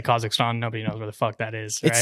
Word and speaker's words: Kazakhstan: here is from russia yeah how do you pronounce it kazakhstan kazakhstan yeah so i was original i was born